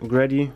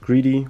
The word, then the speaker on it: Greddy: Hier steht nochmal schön Grady oder Greedy oder Grady. Ich glaube Grady wird jetzt ausgesprochen.